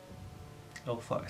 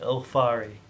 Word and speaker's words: Ylthari: Ylthari. Say it with me. Ylthari. It's Welsh. So the Y is pronounced like an E. Ylthari.